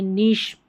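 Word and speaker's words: niche: और ये नीश, ठीक है, ये कुछ कुछ स्पेलिंग्स जो है वो काम आती है।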